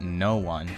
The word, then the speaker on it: Noon: Anyways, to give a quick summary, the podcast follows a girl named Noon. No, not no one. It's pronounced Noon.